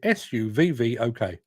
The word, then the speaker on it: Southwark: If you're posh, you pronounce it Southwark, but if you're from London, particularly the bit that I'm from, you pronounce it Suvvok, Southwark.